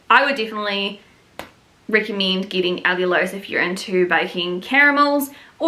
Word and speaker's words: allulose: But honestly, if you just Google allulose, that's how you say it.